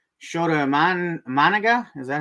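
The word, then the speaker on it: Imanaga: Now juxtapose Paul Skeens to a guy like Shota Managa. Is that how you say it? Managa, yeah.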